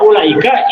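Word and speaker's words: أولئك: Tapi menurut ilmu rasm, wawu pada ulaika itu cukup ditulis namun tidak perlu diucapkan. Cek ilmu rasm gitu. Wajib ditulis tapi tidak perlu diucapkan. Makanya hasil bacanya pendek.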